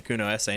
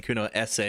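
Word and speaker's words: Cunoesse: knowing what i know i don't know why i keep saying kuno sa like i'm trying to pronounce the e at the end it's kuno s as like hair s also like the game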